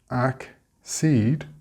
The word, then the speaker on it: accede: For exceed, we get accede with the stress on the seed.